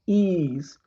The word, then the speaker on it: Ys: It's pronounced Ease.